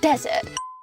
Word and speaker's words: desert: 적이 있습니까 갔다 오세요 deser 앞에 강세가 있죠 desert 플 플러입니다 배관공이 뜻이죠